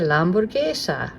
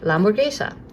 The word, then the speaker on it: hamburguesa: You can just say la hamburguesa. You've probably practiced it a few times with me. And this means that, la hamburguesa. If I flip it over, oh my goodness, well, the H is silent, that's really long.